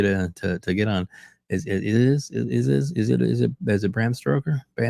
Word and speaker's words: Stoker: Is it Bram Stoker? Stoker, not Stroker.